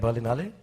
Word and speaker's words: Berlinale: has provided us which berlinale am I pronouncing it right berlinale yeah okay they've provided us and